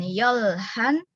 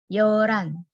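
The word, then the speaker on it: 열한: Jadi bacanya bukan yolhan, tapi yoran.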